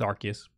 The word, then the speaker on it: Arceus: uh gave us uh the pronunciation pokemon legends arceus it's arceus yep that's the see